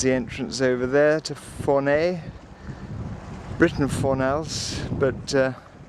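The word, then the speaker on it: Fornells: That was the entrance over there to Fournay, written Fornals, but pronounced Fournay. Well, it's 10 o'clock. We've got the sails up and they're pulling nicely. We're just leaving Fournay and we're going to go round that cape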